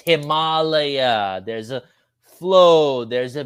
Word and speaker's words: Himalaya: in Asia, in India, it's pronounced Himalaya, not Himalaya, not that ugly Himalaya. It's Himalaya.